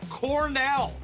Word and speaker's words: Cornell: It's pronounced Cornell.